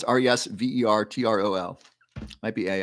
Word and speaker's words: Resveratrol: you're welcome Karina okay questions about Resveratrol it is spelled how is I think it's resvertol might be a l i don't often spell